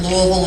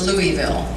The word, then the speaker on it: Louisville: do have to say although I pronounce it Louisville as well my husband was also raised in this city and he insists that it's Louisville I don't know how